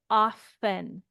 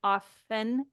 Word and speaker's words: often: most accepted um the the most accepted form of pronunciation in North American English is to pronounce it often with no T however many native speakers